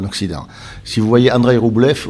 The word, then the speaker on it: Rublev: Si vous voyez Andrei Rublev, ou Andrei Rublov, comme on dit, si on prononce ça.